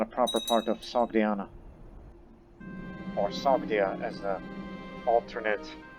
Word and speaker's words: Sogdiana: Because that's not a proper part of Sogdiana. Or Sogdia as the alternate pronunciation.